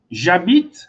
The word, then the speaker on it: J'habite: J'habite, mesma coisa, né? Esse H aqui é mudo. Acho que é isso, né? Esse H é mudo. Então, ele não influencia a minha pronúncia.